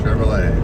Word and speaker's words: Chevrolet: truck there Chevrolet Chevy Chevrolet the t is silent Silverado so it's a